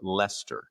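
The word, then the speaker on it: Leicester: Uh, I just wanted to confirm Adam is correct about the pronunciation of Lester.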